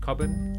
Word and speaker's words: Cobban: And your surname, I pronounce it cobin. Yeah. Very nicely done.